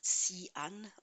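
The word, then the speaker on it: Xi'an: re Imperial written X I A N but pronounced CN the peace of the west and this this city still exists.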